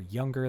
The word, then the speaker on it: Younger: My name is Younger. That's how you pronounce that.